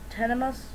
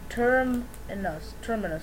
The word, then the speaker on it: Terminus: Am I pronouncing that right? Tenemus? No. Terminus Cave.